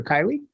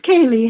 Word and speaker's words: Kaylee: pronouncing your name correctly is it kaylee or kylie it's kaylee hi thank you hi